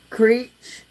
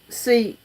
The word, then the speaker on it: Czech: Irish musician and a Creech musician? I don't know how you pronounce that. It's Czech, musician.